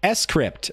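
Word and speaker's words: scrypt: correct which by the way is the actual pronunciation it's not I mean you can call it script I'm not gonna be all weird about it but I think it's meant to be pronounced s script who knew it's weird right it's like gif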